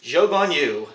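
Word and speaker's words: Zhou Guanyu: in in eighth place joe von you so that is the proper way to say his name according to the broadcasts and i what a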